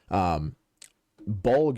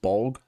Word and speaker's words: Bolg: So Bolg is actually his son, and I think that's how you'd pronounce it, right? Just Bolg?